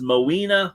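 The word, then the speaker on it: Moina: right yeah no clue okay the name is mawina Michael mawina Michael that's spelled m-o-i-a-n-a mawina Michael all right that was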